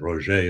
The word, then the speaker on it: Roger: Well, he pronounced it Roger as if he was French, but he's not.